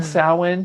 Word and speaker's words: Samhain: was like oh well thank you you mean samhain he's like oh sorry we can't get